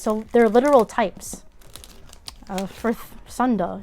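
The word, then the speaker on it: サンダー: For Sunda, it's really Sunda, not Thunder. I just said Thunder so you guys can understand me. Japanese pronunciation is a little bit different.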